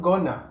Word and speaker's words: going to: Going to is more common in spoken English and is pronounced gonna.